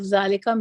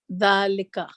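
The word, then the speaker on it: ذلك: When we learned the use of zalika meaning that, and wow meaning and. Example: this is a house and that is a mosque. Hadha baytun wa zalika masjidun. Note: zalik is pronounced zalika, right?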